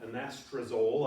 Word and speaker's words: anastrozole: So we have a medication called anastrozole, I believe it's pronounced, and like most drug trials, they give the medication.